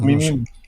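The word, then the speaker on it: Khmeimim: It's our khmimim. Like the last syllable is stressed.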